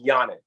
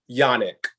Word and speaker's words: Janak: the people out there your last name is pronounced Yannick that's correct Yannick and it's spelled with a J so I was gonna